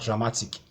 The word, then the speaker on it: dramatic: be in Capal letters you have dramatic it's ending in ic so it obeys this formula so you have to stress ma syllable before the last one that's the penultimate syllable then you have pandemonium